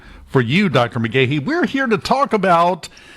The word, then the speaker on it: McGaughey: McGee. Very good. I I've seen and heard different pronunciations from other people that that have that name.